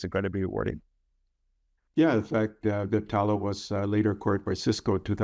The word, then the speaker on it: Viptela: No, I don't know if I pronounce this right, but Viptela, or is it Viptela? That's right.